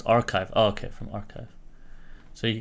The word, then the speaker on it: arXiv: let me Google this how to pronounce arxiv pronounce archive okay from archive so